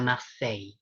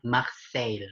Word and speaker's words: Marseille: sei mangkei mosting harvey nace yang benar adalah maxey bukan marseille hehehe oke oke boleh aku lanjut gigi key